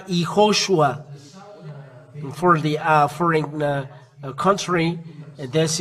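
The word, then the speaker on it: יההוֹשֻׁע: And there is a dot above, and it becomes sh. As there are three dots below, so shu. That's why YAHOSHUA.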